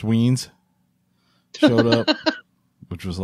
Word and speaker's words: Wines: Darren Wines, pronounced Weens, showed up, which was a lot of fun.